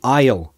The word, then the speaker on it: aisle: window seat or the aisle seat? I don't know what that is in your language. Aisle. Pronunciation, same as I will, contracted. Aisle. Yeah, so don't let the S confuse you.